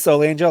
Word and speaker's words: Solange: say her first name it's da da s Angel it really is soul Angel that's very American how you said that yeah I'm pretty